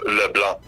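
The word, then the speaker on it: LeBlanc: leblan just one trick don't pronounce the C at the end of leblan it's Le but I'm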